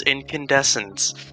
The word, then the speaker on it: Incandescence: Also, make sure you pronounce the name correctly. It is Incandescence.